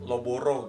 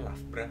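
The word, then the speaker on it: Loughborough: warwi universityakak war dulu Gue juga bacanya loboro gitu POnya bacanya labraanya kan loborou gitu kan ternyata bacanya labrah gitu itu emang kalau itu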